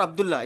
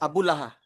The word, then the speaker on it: Abullah: And not Abdullah, it's Abullah. Oh, Totally different pronunciation.